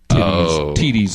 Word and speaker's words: TiTi: Well, now in this clip, they blurred out her phone number, but when originally aired, they accidentally did not blur out TiTi's. It is pronounced TiTi, which is an African word meaning flower.